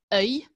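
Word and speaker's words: œil: de dieu vous savez qu'en français les yeux se prononcent différemment au singulier au pluriel donc au singulier ça se prononce un oeil et au pluriel des lieux donc ce sont des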